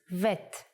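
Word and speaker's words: ב: If you leave out the dot, bet becomes vet. The sound of vet is v.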